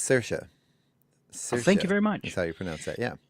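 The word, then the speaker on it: Saoirse: I think I got that I believe it's cersa thank you very much that's how you pronounce that yeah all right Ron Perman has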